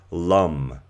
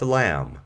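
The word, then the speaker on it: लं: in our being and that vibrational sound in Sanskrit is actually pronounced Lum not Lam as it reads so for example you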